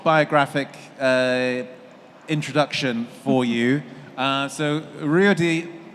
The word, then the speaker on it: Ruedi: So Ruedi, I keep on trying to pronounce it in the Swiss way.